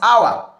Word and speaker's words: hour: Another one is hour, hour, hour, like our time, all right? Pronounced as one syllable.